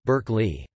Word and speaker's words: Berkeley: The University of California, Berkeley, was named after him, although the pronunciation has evolved to suit American English, Berkeley.